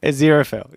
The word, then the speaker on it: Aziraphale: Wow, my goodness, you've gone for like 6 different pronunciations. Yeah, Aziraphale. Aziraphale.